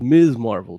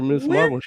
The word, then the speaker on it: Ms. Marvel: not when you spell them right but it's pronounced ms marble for this case even carol danvers said that it's ms marvel to you ah what she said that one when they called her miss marvel but it's miss marvel don't make no assumptions